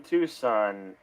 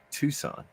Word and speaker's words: Tucson: It's just Tucson. Tucson. I really don't know why the C is there.